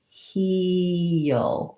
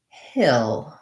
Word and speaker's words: he'll: dark L, the ul, it's almost like heel. It's almost like two syllables, heel, heel.